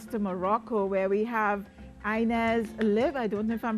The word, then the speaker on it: Ines Lihb: correctly of course my name is inna sliv ines liv and you're a political science student in paris